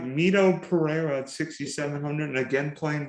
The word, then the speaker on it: Mito Pereira: uh meet oh am i saying it right mito pereira at 6700 and again playing wall this week yep yes that pronunciation and i mentioned this week he'll be